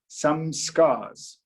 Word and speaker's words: samskara: These programs in Sanskrit are called samskara. The various programs embedded in our mind are called samskaras. It's a lovely word. If you look at it phonetically from an English speaking point of view, samskars.